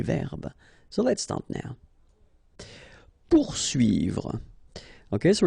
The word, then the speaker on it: poursuivre: Poursuivre. Okay, so remember that when you get this combination of O and U, you will get the sound OU. Okay, so pour, and then U and I here, UI.